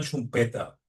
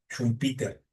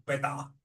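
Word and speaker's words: Schumpeter: Y su apellido se dice en alemán chumpeta, ¿okay? No se dice, no se dice eh Peter e y en el caso de como él es de origen austríaco, e el la pronunciación austríaco de esto es un peta, ¿okay?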